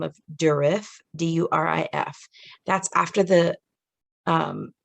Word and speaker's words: Durif: also see it called by the name of durif d-u-r-i-f that's after the um the name of